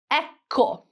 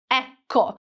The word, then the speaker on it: ecco: Cinque, we have a double consonant again. Ecco. Ecco. So, it is not ecco, ecco. We also have a hard c c sound because the letter c is followed by an o.